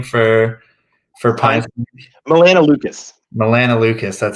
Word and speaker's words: melanoleucus: Melanoleucus, that's how you say it.